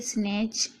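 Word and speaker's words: snatch: बता दिया है कि टी के बाद अगर सी एच आए तो टी साइलेंट रहता है। पॉज और यहां पर देखिए स्नेच। यहां पर भी टी साइलेंट है।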